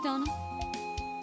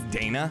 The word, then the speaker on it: Dana: I love this game, but I hate how they pronounce Donna in this game. How come, Cardboard? Do you want it to be Dana? I don't know how far into the future he is, but the remnants of our kingdom surround him. It's supposed to be Dana, only it's not supposed to be Dana. It's Donna.